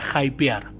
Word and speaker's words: hypear: comente De dónde viene la palabra jaipear que yo no la usé nunca en la vida y se escribe como h y pear se suele utilizar hype